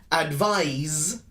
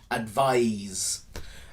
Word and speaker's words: advise: a soft c sound advise is more of a z sound z a z sound advise so why are they